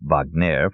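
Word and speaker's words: Wagner: years had been practicing in Paris hence the pronunciation Vagner for those who wanted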